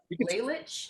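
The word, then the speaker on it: Lalich: Janya Laylich. You can spell it.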